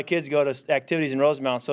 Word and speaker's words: Rosemount: from Rosemount Minnesota and I always mispronounced it because I would call it Rosemont because that's where I was from near in in Illinois and Rosemount Minnesota and then I